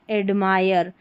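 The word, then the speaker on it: admire: टू एड, AD को एड, ये MIRE, मायर, एडमायर. Last में जो E है एडमायर में वो साइलेंट है, हिम.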